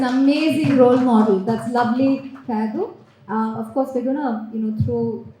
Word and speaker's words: Kayadu: ask any question to Kayadu? Am I pronouncing it right?